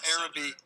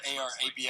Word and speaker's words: Arabi: It's spelled A-R-A-B-I. A couple people pronounce it differently.